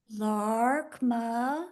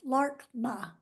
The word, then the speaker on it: Laarkmaa: if I need to LMA is how they say it in English it's LMA l a a r k m a a LMA awesome fantastic and for